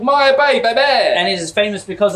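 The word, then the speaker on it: Maya Bay: see the very famous Maya Bab I don't say this word anymore because I can't pronounce it no it's called Maya b b and it is famous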